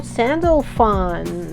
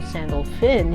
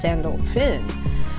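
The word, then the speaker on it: Sandalphon: way next we have Archangel sandal fun which is really Archangel sandal fin he said it's you know pronounced sandal Finn okay this is the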